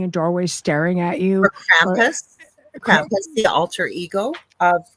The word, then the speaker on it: Krampus: And he says, "You over in North America, you don't say it correctly. It's Krampus."